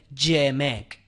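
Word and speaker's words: אמת: escribe en el hebreo Emek, terminado en T, E-M-E-T, Emek, terminado en T, vuelvo a repetir, pero en una forma fónica, para pronunciarlo, vendría a ser Yemek.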